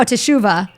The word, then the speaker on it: Teshuva: Is that how you pronounce it? Teshuva? Oh, Teshuva.